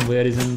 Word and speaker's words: voyeurism: Good यार, उस्मानी 6209, Aman bro, you have mentioned your thoughts on voyeurism before. Yes, on voyeurism. Voyeurism is the correct pronunciation.